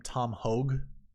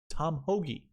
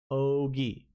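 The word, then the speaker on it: Tom Hoge: I mean, look at Tom Hoagie, 47th ranked. By the way, have any of you guys watched podcasts that call him Tom Hogue?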